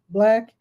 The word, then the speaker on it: BLK: co-hosting the 3rd annual Black Biz Summit. It's spelled BLK, then BIZ Summit, Black Business Summit.